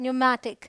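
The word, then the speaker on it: pneumatic: है ये है न्यूमोनिया यहां भी पी एन है यह है न्यूमेटिक यहां देखिए पीटी है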